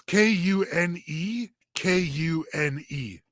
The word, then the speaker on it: Kune Kune: It's Kune Kune. Cooney. Cooney. Wow, it really is Cooney.